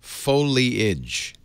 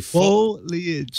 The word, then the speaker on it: foliage: A lot of people say foliage. Foliage. Just like it's spelled, but nobody looks at the spelling. It's thank a you. Very. I don't know why, but a lot of people say foliage.